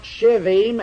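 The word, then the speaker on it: שבעים: It is to be pronounced shivim, and it is the ordinary numeral 70.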